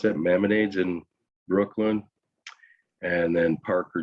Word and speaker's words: Maimonides: How do you pronounce that? Maimonides in Brooklyn, and then Parker Jewish Hospital. Maimonides.